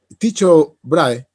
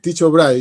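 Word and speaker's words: Tycho Brahe: se inventó el telescopio dicho brahe así yo lo estoy diciendo como en español ya como se escribe Sí pero es un nombre no es inglesa sino es danés donde se habla una forma de alemán no cierto entonces dicho brahe yo estoy diciendo en español porque no conozco el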